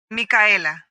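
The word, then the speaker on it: Micaela: Mika. How do you spell it?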